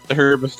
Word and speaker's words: herbs: of a bunch of herbs lately. Yes. Stop pronouncing the H. But it sounds more like the bird then. Herb is proper in some languages.